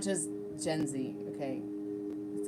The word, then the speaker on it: Gen Z: And let me tell you, honey, it's not just Zenji. Zenji? Okay, yeah, it's time to go to bed when I'm back talk-works-ing. But it's not just Gen Z, okay?